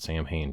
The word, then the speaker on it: Samhain: If you want to call it Samhain, fine, call it Samhain. Just be aware of the fact that it's an English-sized, anglicized pronunciation of an Irish word.